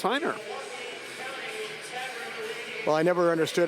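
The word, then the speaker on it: Rainer: thing that spelled our AI NER but it's pronounced Heiner why is the ARP pronounced like an H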